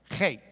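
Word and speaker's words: חית: So it's kind of like a CH in the sense of Bach, not in the sense of Charlie, okay? So it's the CH like in Bach or something. Chet.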